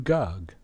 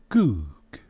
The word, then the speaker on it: Gog: But look at the script under it. That is the ancient Hebrew script. The letter that's in the middle of the 2 G's is a Wa. How is it pronounced? Ooh. So it would be Goog.